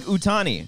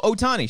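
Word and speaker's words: Ohtani: Olaf is the Pokemon it's like utani no Otani sh Otani I don't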